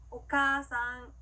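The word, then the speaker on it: お母さん: 자, 봤을 때요, 어머니라고 하는 일본어 단어는요, 오카아상이라고 읽는 게 아니라 오카상이라고 카를 길게 발음해줍니다. 한번 따라해 볼게요. 오카상, 오카상.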